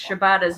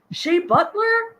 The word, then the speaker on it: Shibata: Jeffrey said, I don't know why, but I'm hearing Bobby Heenan trying to pronounce Shibata's name with Gorilla Monsoon. What's his name? Shea Butler? No, it's Shibata.